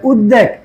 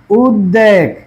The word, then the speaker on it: উদ্বেগ: আচ্ছা 3 নম্বরে দেখে, এখন উপসর্গজয় গঠিত শব্দে খণ্ডত্ব দয়ের সাথে বফলার ব বাংলা উচ্চারণে লুপ্ত হয় না। তাহলে উদ্বেগ, দেখো কি বলছি এটা? উদ্বেগ, উদ্বেগ।